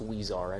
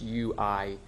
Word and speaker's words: Huizar: matter is Elias, and I believe the last name is pronounced Huizar, and I stand willing to be corrected if anybody wants to correct me on that. I believe it's Huizar. It's Huizar, and those are the